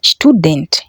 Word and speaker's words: Student: Student. Yes, it might sound the same as in English, though the pronunciation is not really the same.